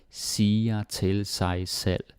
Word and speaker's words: siger til sig selv: But it's like til and then sa. Ikke not siger til sig selv. And also the V is not even that pronounced.